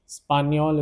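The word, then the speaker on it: espagnol: Spaniol is the pronunciation of this particular word.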